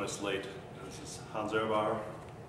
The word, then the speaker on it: Ehrbar: And for those of you that did join us late, this is Hans Ehrbar, pronounced correctly?